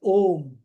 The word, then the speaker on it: Om: The combination of A and U is pronounced as Om.